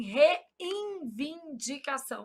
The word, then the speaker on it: reivindicação: Só para eu gravar que não existe N aqui. Qual que é o problema? A gente nasaliza esse N na pronúncia. A gente fala assim, reivindicação. Aí a gente sai colocando um monte de N onde não há.